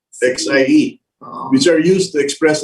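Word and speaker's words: 蟹: word for crab and the chinese word for harmony are both pronounced as c xie which are used to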